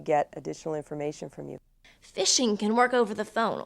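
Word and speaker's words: phishing: there is something that we call fishing it's not spelled with an F it's spelled pH i SH ing and what that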